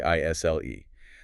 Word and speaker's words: aisle: The S is totally silent. You just say isle. It sounds like isle.